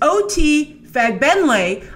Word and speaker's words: OT Fagbenle: So my guess is that this is OT Fagbenle. I looked it up. That's how you pronounce it, from The Handmaid's Tale, giving the MCU their answer to Will Smith's Deadshot.